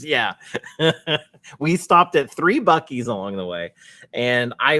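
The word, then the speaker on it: Buc-ee's: enjoying Becky's because yeah we stopped at three buckies along the way and I learned that it's pronounced Bucky's and not because I've always just called the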